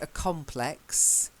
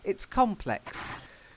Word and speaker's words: complex: adjective here ok and the word is complex ok so the noun is a complex and the adjective is complex so the slightly different stress same pronunciation different stress so a complex it's complex ok as in complicated so